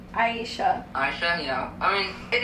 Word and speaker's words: Aishah: Aishah.